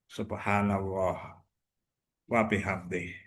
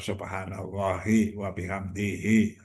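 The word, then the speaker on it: سبحان الله وبحمده: Subhanallah wabihamdih. Subhanallah wabihamdih. Subhanallahi wabihamdih. Nah, itu cara bacanya ada subhanallah wabihamdih atau subhanallahi wabihamdihi.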